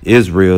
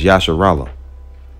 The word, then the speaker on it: Israel: If you think that Yisrael is how you say, you know, Israel is not how you say it. It's Yasharallah.